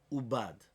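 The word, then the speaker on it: עבד: But now that it's read ubad, but it's written avad, because that's the way it is. It's written ayin bet dalid, which is avad, but I pronounce it ubad.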